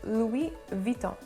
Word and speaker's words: Louis Vuitton: end is also silent so it would be louis vuitton the next one they recently dropped the first